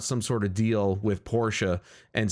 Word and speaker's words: Porsche: I'm going to flip-flop between, because Porsche is what I grew up saying, but it is technically pronounced Porsche.